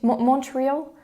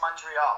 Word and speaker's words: Montreal: question how do you say morial in english montreal in english yeah it's montreal montreal okay so montreal montreal so since you've